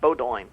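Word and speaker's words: Bowdoin: you never heard of Bodo college now what is it it says the college is is pronounced Bodo well where is it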